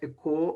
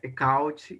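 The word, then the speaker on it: Albert Eckhout: O artista holandês Albert Eco, ou Albert Ecaut, enfim, existem algumas formas de se pronunciar, mas é isto. Eco, Ecaut, vai se referir à mesma pessoa.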